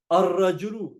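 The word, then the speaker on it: الرجل: You don't pronounce the lam, you pronounce the tanween in the first letter of the word, like ash-shamsu. So najmun, a star. An-najmu, the star. Rajulun, a man. Ar-rajulu, the man.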